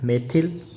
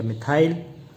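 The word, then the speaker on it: methyl: तो यहाँ देखिए, एक कार्बन का जो एल्किल ग्रुप है उसे बोलते हैं मेथिल या मिथाइल।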